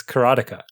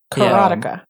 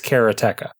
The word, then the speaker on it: Karateka: Correctly is karateka. Karateka. Okay, but so how he does says karateka. Okay. Right. I think I say karateka too.